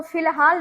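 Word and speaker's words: فی الحال: तो फिलहाल देखिए कि फी और फिर लहाल अलिफ साइलेंट और है जी हसबुल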